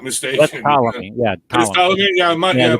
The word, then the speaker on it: Ptolemy: That's Ptolemy. Yeah, It's Ptolemy. Yeah, the P is silent. It's E-T. kind of like the S in Illinois.